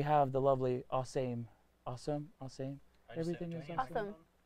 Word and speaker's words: Awesame: just say awesome um everybody has tried to put like every possible pronunciation on it I just say awesome um same thing happened